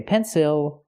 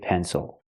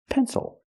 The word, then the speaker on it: pencil: the dark l o o pencil don't say pencil say pencil why because the stress is not on the syllable before the L that's why it's not pronounced ill it's pronounced o pencil so we look at this word is it